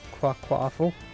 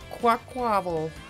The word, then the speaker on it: Quaquaval: I've always thought it was like quaquaffle. Quaquaval.